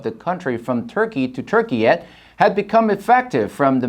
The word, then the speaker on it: Türkiye: The country called itself Turkiye, Turkiye, which is pronounced Turkiye, after its declaration of independence in 1923.